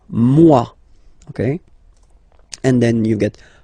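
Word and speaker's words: moi: So remember this o e combination give you the sound waw wa mua.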